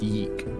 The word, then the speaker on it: YIIK: play this game chances it's pronounced eek that's good to know thank you it's important to know that the title is pronounced Yeek um but yeah uh then